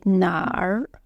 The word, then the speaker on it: 哪儿: You can notice when I say 哪儿, I generally say 哪儿, I have a at the end because I have northern accent. But if you feel hard to pronounce this you don't have to say. You can say 哪 is alright.